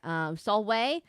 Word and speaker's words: Salve: Oh, V's are pronounced like W. So you don't say, for example, let's see, what's the thing is Solvay. Solvay is spelled Salve, but the V is pronounced like a W.